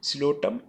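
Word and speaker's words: Psilotum: है इसमें जो है व प साइलेंट है लोटम एंड मेप टेरेस यह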